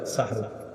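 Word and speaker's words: سحور: সবাই সাহরি কি খাওয়া এটা সুন্দরভাবে উচ্চারণ সাহরুন সিন হা জবর সাহ র দুই পেশ রুন সাহরুন এটা হলো আমরা যেটা খাবো আর কি হ্যাঁ আরেকটা হলো সিন হাজের সিহ র দুই পেশন সেহরুন মানে জাদু সেহরুন মানে কি সেহরুন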